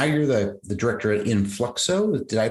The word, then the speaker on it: Influxo: director and now you're the the director at Influxo. Did I pronounce that correctly?